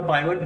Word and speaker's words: pivot: गया है जी हां पीव टेबल या पाइवट टेबल जैसा की अलग अलग रीजन के लोग इसे प्रोनाउंस करते हैं आप इसे दोनों में से किसी भी नाम से प्रोनाउंस कर सकते हैं यह एक्सेल